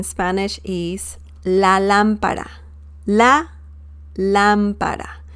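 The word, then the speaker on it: lámpara: is la lampara la lampara remember the accent mark on top of the letter a the first a right here and the pronunciation oops the pronunciation once again is la lampara la lampara okay so that is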